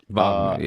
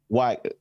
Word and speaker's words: Wagner: 2017, Wagner. Andres Wagner. No, his name is pronounced Wagner. Pronounced Wagner.